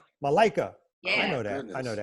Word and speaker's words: Malaika: I'm going to say the name Malaika, right? Malaika. Yeah. I know that. Goodness. I know that. But you don't spell it right.